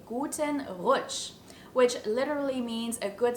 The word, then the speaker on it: Guten Rutsch: start into the new year is to say guten roach which literally means a good slide we use